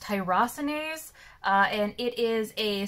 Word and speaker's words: tyrosinase: learning about t positive the term is actually pronounced tyrosinase uh and it is a sort of a